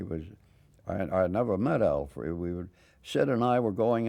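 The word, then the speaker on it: Frueh: And Al Foy, is that how you pronounce it, or Foy? Oh, he was first rate, Al Free, yeah.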